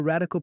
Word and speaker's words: RDCL: That's where radical product thinking offers a memorable, practical framework called RDCL, pronounced radical.